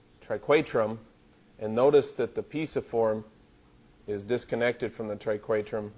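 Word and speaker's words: pisiform: on this plastic hand they've got the piasa form or piece of form depending on how you want to pronounce it tomato tomahto I say piece of form this is piece of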